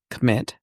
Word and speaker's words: Kemet: Commit. It's pronounced commit according to Rodney. I think it's Kemet, but he says commit.